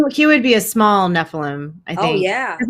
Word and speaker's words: Nephilim: Whenever I think of how do you say that? Neptilium? Uh, Nephilim. Nephilim. Yeah.